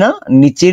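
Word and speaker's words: ن: আচ্ছা, নুন জিহ্বার আপনার উপরের দিক যাবে না, নিচের যে সাইডটা আছে এই সাইড স্পর্শ করবে। লম্বা হবে 4 আলিফ পরিমাণ। নুন ঠোঁট গোল হবে, নুন উচ্চারণে ঠোঁট গোল হবে।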